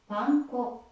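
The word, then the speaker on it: パン粉: Breadcrumbs in Japanese is panco.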